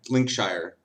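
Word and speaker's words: Lincolnshire: linkon Shire link linkshire they don't even have linoln they have link linkshire I'm like what in the hell guys you just put you took the first syllable and added Shire at the end and decided to ignore three syllables in the center at least the French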